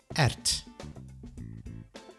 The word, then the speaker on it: erwt: de Ert please Note We Do write a w w but We Do Not pronounce It Ert de spinazie de spinazie